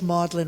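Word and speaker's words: Magdalen: famed a Oxford College modlin rhymes with dodlin spelled differently and imitates the president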